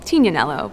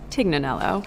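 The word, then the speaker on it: Tignanello: The name the TIG comes from a wine called Tinanelo, but often times it's mispronounced Tiganelloo. And I had a sip of this wine about six or seven years ago.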